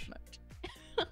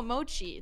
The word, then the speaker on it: mochi: It's mochi, isn't it? Oh, like, oh, no, mochi. That's like M-O-C-H-I or M-O-C-I, and that's like a... Like yeah, it's a type of food. Not mochi. It's mochi.